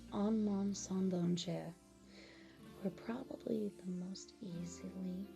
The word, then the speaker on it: Un Monde Sans Danger: Appropriately named A World Without Danger, and its French counterpart, that is pronounced Un Monde Sans Danger, were probably the most easily recognizable but distinct songs for the entirety of the series.